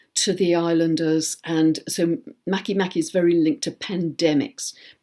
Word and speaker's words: Makemake: Another I want to mention is a dwarf planet called, it's spelt MakeMake, all one word, but I understand it's pronounced MakeMake.